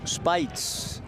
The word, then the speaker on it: Speights: Spells his name as Omar, but pronounces it Spites, S-P-E, as in Omar.